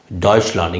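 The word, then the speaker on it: Deutschland: Germany இங்க வந்து ஜெர்மனின்னு சொல்றது இல்ல இங்க வந்து டாட்ச் லாண்ட் இங்கிலீஷ்ல எப்படி ஜெர்மனி ஜெர்மனின்னு சொல்லி உலகம் ஃபுல்லா அது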